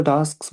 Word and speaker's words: task: टास्क, टास्क, नहीं, टास्क, मैं तो टास्क बोला ना, टास्क तो नहीं बोला।